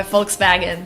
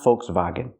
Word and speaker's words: Volkswagen: the long o vokes the L is silent make the long o sound vokes like Coke voke vokes and the